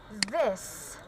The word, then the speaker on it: this: So this is a voiced sound. Okay, so I always told you this voiced sound. All right, th voiced sound, which is basically to pronounce as the.